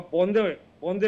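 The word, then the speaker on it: বন্দে: Pronunciation इस्तेमाल करते हैं, क्योंकि अगर ओरिजिनल फॉर्म की बात होती है तो ओरिजिनल फॉर्म ये बांग्ला में लिखा गया था, वहां वंदे नहीं होता, वहां बोंदे होता है, शश श्यामलाम नहीं होता, शौच श्यामलाम।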